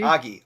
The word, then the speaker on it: Ogie: we going with Ogie did we get a pronunciation check a aie Augie Augie right thank you Augie yep so Augie is singing here this will